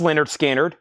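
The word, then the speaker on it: Lynyrd Skynyrd: one left we have pronounced Leonard skinnard one left 45 RPM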